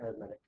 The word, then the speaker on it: arithmetic: as an adjective, I pronounce it arithmetic Okay, because it's an adjective.